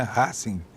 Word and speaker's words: Racing: E a pronúncia é uma pronúncia latina mesmo, né? Racing.